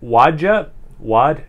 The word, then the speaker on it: Wadjet: So this is Wadjet. I don't know how you pronounce it. W-A-D-J-E-T. So like Wad and Jet, but it's one word.